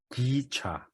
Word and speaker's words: 기차: Train is gicha.